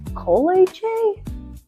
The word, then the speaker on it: kolache: What's a kolache? A kolache? Hmm. Kolache? Kolaches? Kolaches? Like the shoes? No, that can't be right. It's kolache, but it don't matter